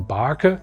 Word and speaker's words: Barke: Here at Weyermann we have Barke, the German Barke or Barke as a lot of people pronounce it in English-speaking countries.